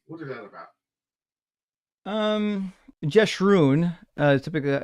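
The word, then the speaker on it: Jeshurun: Um, jesun is typically how it's pronounced and it's it's supposed to be a a term of adearment.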